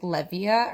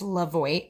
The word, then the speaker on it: Levoit: just received the Lavo I think I'm saying it right was I was saying like levia or something but it's Lavo I Believe air purifier and it's